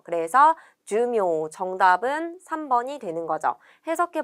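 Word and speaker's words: 寿命: 밑줄에 있는 단어는 목숨수의 목숨명을 써서 수명이라는 뜻이고, 이때 수는 주라고 짧게 읽고 타금이 있다는 것과 목숨명은 읽는 방법이 메이와 묘 두 가지가 있지만 수명이라고 할 때에는 묘로 읽는다는 것을 기억해 주세요. 그래서 주묘 정답은 3번이 되는 거죠.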